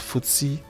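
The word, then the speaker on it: FTSE: market you can look at is the e pronounced footsie now this this um footsie tracks the performance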